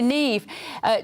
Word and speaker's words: Niamh: Niamh. That's Irish. That's Irish. That's Neve. Neve. It's Neve. I knew Neve.